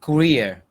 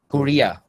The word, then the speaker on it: career: a lot of euro you said career like korea i have one thing korea and career not the same thing you said korea